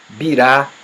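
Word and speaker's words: בירה: Bira se escreve igualzinho, só muda o acento. Bira quer dizer capital. Considerado como hoje, moderno capital. Birá já quer dizer. Perdão. Birá quer dizer capital. E bira quer dizer cerveja.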